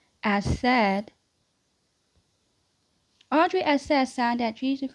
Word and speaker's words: Assad: So, Audrey, um, Audrey, Asadi, as, as, as the, trying my best to pronounce that person's last name. So it's Audrey Assad.